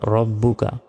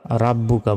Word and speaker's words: ربك: রব আজবর রব, বা বেশবু, কাব জবর কা, রব্বুকা। অনেকে আমরা রাব্বুকা বলি, এটা ভুল, বলতে হবে রব্বুকা।